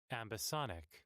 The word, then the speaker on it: ambisonic: to pronounce that because ambisonic ambisonic okay that's that's how Oxford languages says it okay ambic gotcha